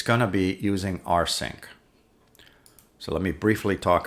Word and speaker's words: rsync: little differently here but this R sync is our sync remote sync this normally is making